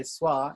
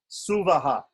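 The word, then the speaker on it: स्वः: In North India, they say Swa. In South India, they say Suvaha. Why? And that is because specifically in the type of pronunciation that we use, Krishna Yajurveda, Pratisakya, the book that tells us how to pronounce things in Krishna Yajurveda, says that Swa, the syllable Swa, should be pronounced Suvaha.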